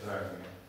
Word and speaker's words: Dragomir: So what is the correct pronunciation? Dragomir or? Yeah. Okay, Dragomir.